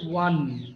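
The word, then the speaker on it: one: আমি অনেক সুন্দর করে বলেছো আর কি, আফরোজা হাসনাত নেহা। ওকে, উচ্চারণটা তোমার একটু সুন্দর করতে হবে। সেটা হচ্ছে অন না, ওটা হচ্ছে ওয়ান।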